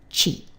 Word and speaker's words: 地: land and by extension a place and it's pronounced Chi now we use Chi to write the Japanese